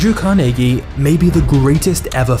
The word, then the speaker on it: Carnegie: Andrew Carnegie was born in Scotland, which is the reason I'm saying Carnegie instead of Carnegie, because this is how the Scots actually pronounce it.